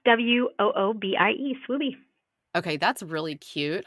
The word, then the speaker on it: Swoobie: How do you say it or spell it? Swoobie. Yeah, it's SWOOBIE.